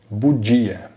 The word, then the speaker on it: bugia: E o GI também, só dando um destaque para a pronúncia, GI tem o som de DG, tá? O DGI, bugia.